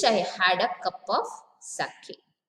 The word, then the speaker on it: sake: What is it, sake? But the spelling here is S-A-K-E. But the pronunciation, what I am saying is sake.